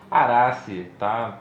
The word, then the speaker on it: Araceae: Araceae, acho que seria um erro, um equívoco quando a gente fala Araceae, né? E pronuncia aquele A que está no finalzinho. Mas em latim, Araceae, tá bem adequado.